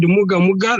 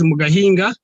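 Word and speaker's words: Mgahinga: The one you said Muga Muga, that is Mugahinga, which is located in Kisoro.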